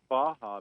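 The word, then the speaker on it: Barra: there's a gracie baja academy in redland it's pronounced baja but it's still b-a-r-r-a in in portuguese language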